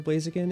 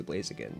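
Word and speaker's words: Blaziken: I remember having a fight with my childhood friend over whether it was pronounced Blasakin or Blazigakin. It's obviously Blazakin in a retrospect, but like I was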